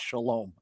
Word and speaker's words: shalom: Uh King Smithberg uh did just say shalom. Did I pronounce it right or did I say it wrong? You said it right. It's shalom.